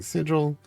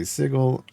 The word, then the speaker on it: sigil: always I don't know I always pronounced everything sigil I get how some people might say sigle I don't really care one way or the other I think everybody understands what you're trying to say Hey look it's Dragon